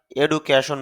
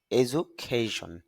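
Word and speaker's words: education: এজুকেটেড অর্থ হল শিক্ষিত এজুকেশন শিক্ষা যদি আমরা এডুকেশন বলি তবে শুদ্ধ উচ্চারণটা হবে এজুখেশন শিক্ষা এজুখেশন অর্থ হল শিক্ষা ইফেক্ট ই ফ্যাক্ট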